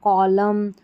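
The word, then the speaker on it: column: यहां पर rule one हो गया कि जब शब्द एम एन पर समाप्त होता है तो एन का उच्चारण नहीं होता।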